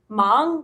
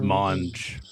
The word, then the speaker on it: Monge: Mang or Mang? I've heard people say Mang. It's Monge. Monge. Oh, Monge with a J sound on the Yeah.